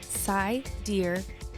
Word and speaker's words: Sidereal: And finally, sidereal, pronounced sidereal, is the true time of the universe, star time, deep space time, not our relative Earth time.